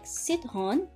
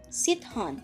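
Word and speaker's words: citron: hon which means lemon it is a soft pronunciation if it is in front of an e i or y so c is pronounced as s okay again sit hon let's listen to the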